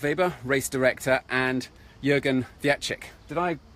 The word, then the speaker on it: Wietrzyk: We are back live again with Christoph Weber, race director, and Jürgen Wietrzyk. Did I pronounce that correctly? Yeah, it's good. Yeah. Yeah. How do you say it? Yeah, Wietrzyk. Wietrzyk.